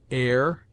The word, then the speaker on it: heir: It seldom begins any but the first syllable, in which it is always sounded with a full breath, except in heir, herb, ostler, honor, humble, honest, humor, and their derivatives.